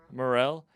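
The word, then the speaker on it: Morril: It sucks though, because Sam, how do you pronounce his last name? Morel.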